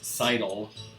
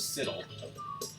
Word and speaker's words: sidle: I said sizzle instead of siddle, and I know it's pronounced sidle, but when I was a kid, no. When I was a teenager, no. When I was a 20-something playing this game, I had no idea how to pronounce that word. I thought it was siddle.